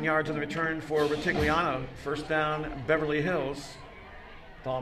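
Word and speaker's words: Rutigliano: Steve, I do that name well, Ritigliano, because that's the former Browns head coach, That's right. Sam Ritigliano. So that's one that is kind of easy for me to pronounce.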